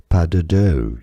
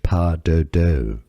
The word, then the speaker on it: pas de deux: d e d e u x is just pronounced like d e, deu. Pas de deux, you could say it in English. Pas de deux. Pas de deux.